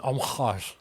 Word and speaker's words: homage: An homage, as they say. Is that a French pronunciation? Yes, how the French pronounce it.